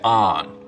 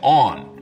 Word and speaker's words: on: Now, north of this line, most people say on, rhymes with don. South of it, they say on, rhymes with dawn.